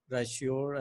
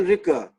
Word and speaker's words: Ricoeur: Some French scholar, Raishior, I think Raishior, to understand the Quran. Well, you see, no, it's not right. It is Paul Ricoeur. It's Paul Ricoeur, okay.